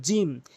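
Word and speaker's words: ج: এরপর আসুন জিম। জিমটি মনে রাখবেন, জিহ্বার মাঝখানের অংশটা উপরের তালুর সঙ্গে মিলিয়ে উচ্চারণ করবেন। এর সঙ্গে ৩টি হরফ রয়েছে, মনে রাখবেন। জিম জিম এভাবে টেনে উচ্চারণ করবেন, জিম।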